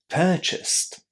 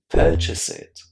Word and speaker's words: purchased: But remember that if you do add an extra syllable, and for example, instead of saying purchased, you say purchase it, or instead of saying